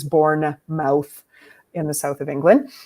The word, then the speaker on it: Bournemouth: in a place called Bournemouth and uh if you wanted to see it phonetically spelled it is born mouth in the south of